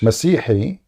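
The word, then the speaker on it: مسيحي: Masihi.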